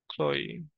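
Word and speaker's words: Chloe: যাই হোক এটার উচ্চারণ কি হবে? এই এলওই চল আমরা চেক করিস এল ওই ক্লোই এটা আসলো না কেন মাথায় ক্ল আচ্ছা প্লিম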